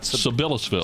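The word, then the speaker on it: Sabillasville: Sibyllsville.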